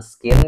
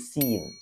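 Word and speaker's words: scene: kata Ini teman-teman ya Bukan skin cara bacanya tapi Sin Sin huruf c-nya enggak usah dibaca Sin Sin Contohnya seperti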